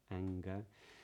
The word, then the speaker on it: anger: middle of a word so when you get an NG in the middle of word it's in the majority of instances the NG is pronounced with a g with a hard G yeah finger anger but when it's at